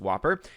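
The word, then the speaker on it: WOPR: supercomputer known as whopper war operation plan response pronounced whopper and of course later known as joshua programmed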